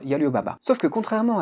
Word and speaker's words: Alibaba: Ça se prononce d'ailleurs en chinois Yalibaba.